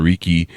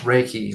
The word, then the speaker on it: Reiki: the audience that might not know what the Riki thing is am I pronouncing that right too it's pronounced raiki like a see that's why you're the professional